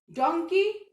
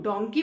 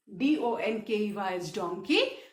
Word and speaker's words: donkey: Fine, like boy boys, toy toys, डोंकी donkeys, story stories, monkey monkeys. Fine. Now be careful with the pronunciation of donkey and monkey. इसको हम डोंकी बोलते हैं, कुछ बच्चे डंकी बोलते हैं, विच इज इनकरेक्ट।